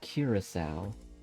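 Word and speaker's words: Curaçao: north holland south holland it's pronounced curacao curacao sal curacao in amsterdam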